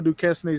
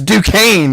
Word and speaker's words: Duquesne: hear you say that she's been correcting me i thought their school's name was duquesne too she's like it's due kane i'm like i don't i don't i don't see it why is it got an s in it i don't i don't